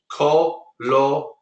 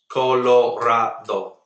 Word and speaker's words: Colorado: pronounce a word until you hear someone else pronounce it, and so it's very hard to learn it. But in Spanish, very simple. Colorado. Colorado. fact, that is a Spanish word. Colorado means colored.